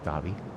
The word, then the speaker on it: Dhabi: There's a silent H in it too. Really? Yeah. Dabby.